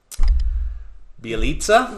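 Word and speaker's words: Bjelica: Bielitsa, Yeah. yeah, from Golden State. Yeah. Yeah. That was a crazy name. It's spelled Bajelica, but his last name is Bielitsa.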